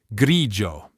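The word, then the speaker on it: grigio: Luchiano, ciao, gelato, grijo. Note the i in luchiano and grijo is silent. Its role is only to soften the consonant before a, o, u, h or any consonant.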